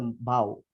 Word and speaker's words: Bau: But when the Jensbrook came in, they pronounced Mau as a Bau. That's why until today, we're using this kind of name for the Bau.